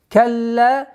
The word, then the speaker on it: كلا: Калла удвоение, потом ударение. Калла, ла. То есть два раза.